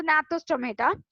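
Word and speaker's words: Gnathostomata: அந்த நாத்தோஸ் G silent ஆக்சுவலா, அதை என் தான் ப்ரொனவுன்ஸ் பண்ணும், நாத்தோன்னு தான் சொல்லுவாங்க. Okay, so நாத்தோஸ் டொமேட்டா.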